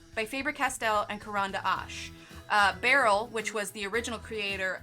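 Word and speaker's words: Berol: So you'll see on a lot of their older ones it says Barrel on the barrel. Go figure, Barrel on the barrel. It's spelled B-E-R-O-L.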